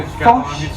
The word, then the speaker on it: Foch: I'm not entirely sure that's exactly how you pronounce his name, but it's spelled F-O-C-H. So it's the easiest way to say it without it sounding rude, I think.